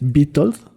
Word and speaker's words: Witold: nació víctor es que se escribe con w pues trabajo pero lo voy a tratar de pronunciar bien es vital como si genes víctor pero